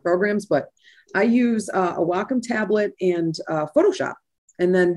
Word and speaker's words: Wacom: It's a Wacom tablet, a Wacom tablet. I say it properly, so I've been told.